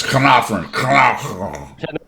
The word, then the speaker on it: Carnarvon: Carnarvon. It's Carnarvon. Yeah. I don't have the heart to say it like that every time. It is obviously Welsh.